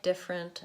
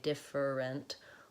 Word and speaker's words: different: to those words like different and interesting where you might have a tendency to say different or interests instead of different an interest I recommend writing out the word with just the two syllables so different instead of